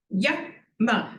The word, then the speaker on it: yama: They each have yama, a short vowel. When you have 2 short syllables, you put the emphasis at the beginning, yama.